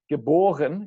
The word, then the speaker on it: geboren: Born, geboren. In German, the emphasis is still on the B, the second syllable.